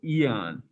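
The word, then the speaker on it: aeon: you say that hey it's a weird word where the a the a and the e come together to sound like an e so it's eon uh eons of astrocities austerities to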